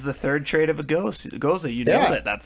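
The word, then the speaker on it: Gose: What I really enjoyed about this, yes, Jordan, It's pronounced goza.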